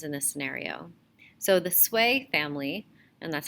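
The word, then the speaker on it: Sui: exactly what happens in this scenario so the sway family and that's how you pronounce that um by the sway family who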